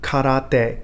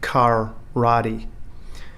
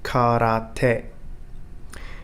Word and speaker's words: karate: when saying multi-syllable words for example karate not as we pronounce it in english karate remember three syllables three distinct sounds karate it's also important to